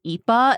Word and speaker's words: Ippa: Another sandwich place is Ipa in Lawrenceville. So this is spelled IPPA, but it's pronounced Ipa because the owner's kid couldn't say pizza as a child, so they just kind of ran with it.